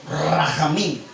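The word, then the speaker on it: רחמים: La piedad en el hebreo es la palabra rajamín, así como ellos lo pronuncian así, rajamín, así hablan, ¿no?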